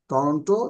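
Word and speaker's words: Toronto: diamond R টরেন্টো ইন দা ইউএস মানে টরেন্টো ইউএসএ ইউএস এর মধ্যে টরেন্টো কোথায় টরেন্ট টরন্ট উচ্চারণটা টরন্ট হবেন্ট এভাবে টরন্ট টরন্ট কোথায় আপনারা জানেন অনেকেই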